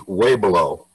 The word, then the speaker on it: Weaubleau: And its correct name is Weaubleau. I'll spell that W-E-A-U-B-L-E-A-U.